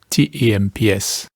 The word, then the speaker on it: temps: But in French pronunciation, all those consonants at the end have gone silent, and you just get a nasalized vowel.